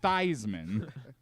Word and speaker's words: Theismann: go ahead and be Joe Heisman Theisman because it rhymes with Heisman and maybe improves your